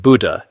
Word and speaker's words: Buddha: Buddha is pronounced Buddha in Sanskrit, which means the awakened one.